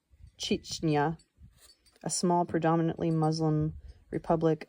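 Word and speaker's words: Chechnya: Footnote pronounced Chichna, a small predominantly Muslim republic of about 800,000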